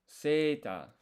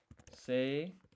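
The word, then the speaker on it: セーター: This is seita. Seita. So this se, we're extending the vowel sound. Se. This is ta. We're once again extending the vowel sound. So it's seita.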